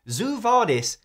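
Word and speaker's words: Zoo Vadis: on the Rosetta Stone Zoo vardis doesn't rhyme with quo vardis unless you pronounce the word Zoo like Zoe deel does and why does it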